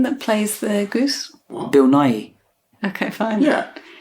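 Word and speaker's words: Nighy: plays the goose Bill NY okay fine yeah how how do you say it no it's because you've been saying Bill Nike Nike Nike sports okay you get that's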